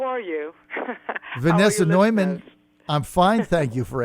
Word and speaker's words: Neumann: gonna coalesce upon mine my name is usually pronounced Norman Newman I respond to you Norman is more is really more correct and and now